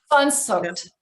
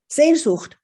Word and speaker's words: Sehnsucht: Sehnsucht. So, oh, I'm sorry. Yep. Sehnsucht. Sehnsucht. Ah, my Portuguese is not is not up to it. Sehnsucht it's a very strong desire for it's almost